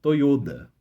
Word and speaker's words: Toyoda: da família que é dona da Toyota é toyoda é toyoda é assim pessoal do 1 2